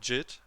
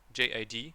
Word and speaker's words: JID: He is called Jid, J-I-D, basically. But his name is pronounced J.I.D. But you say his name Jid, so it's weird.